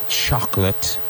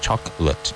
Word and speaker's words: chocolate: He tried to give up chocolate last year. Remember, chocolate has 2 syllables. Chocolate, chocolate.